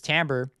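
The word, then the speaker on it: timbre: went to the tambra window even though Lucy is spelled Tim Bray it's tambor and I'm going to manipulate this is controlling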